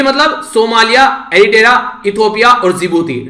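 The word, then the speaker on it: Djibouti: जो horn of Africa है उसका एक्रोनिम इनके द्वारा बनाया गया SEED, सीड मतलब सोमालिया, एरिट्रिया, इथियोपिया और जिबूती, डी साइलेंट रहता है जिबूती।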